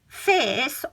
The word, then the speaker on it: fierce: is the fact that there is an R in there and no pronunciation of Now, if you're American, there might have been, you might have said fierce.